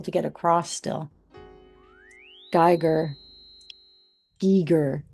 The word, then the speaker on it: Giger: Giger. Hard G then an E sound. G. HR. Giger.